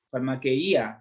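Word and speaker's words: φαρμακεία: Farmaqueia, farmaqueía, dice aquí, sí, con acento en la I.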